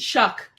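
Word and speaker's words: Shough: become Tyler Oh, you know what it is? Shuck. It's Tyler Shuck. That's how you say it. Okay. Cuz it was so He's I remember watching a interview and he was like like corn. Like shucking corn.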